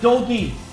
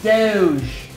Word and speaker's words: Doge: Why do you call it doggy when it's Doge?